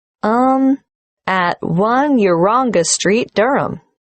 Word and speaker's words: Durham: at one uronga Street Durham how do you spell Durham d-u-r-h-a-m of course I should know that but it's just one of those names that sounds quite different from the way you spell it it is confusing I've